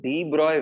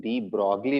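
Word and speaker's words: de Broglie: मुझे क्या चाहिए, I needed the डी ब्रॉय wavelength lambda डी of hydrogen, ratio of डी ब्रॉय wavelength, डी ब्रॉगली wavelength भी आप बोल सकते हो इसको, जनरली लोग यही प्रोनाउंस करते हैं।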